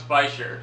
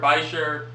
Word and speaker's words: bichir: close-up footage later on so there's many ways to pronounce bisher there's beer bisher uh Beaker biker just about any sort of combination you can come up with would be semi acceptable there's no real consensus going on as far